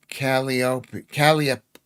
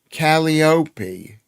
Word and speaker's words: Calliope: Calliope, not the, that's Gallipoli. Calliope, Calliope.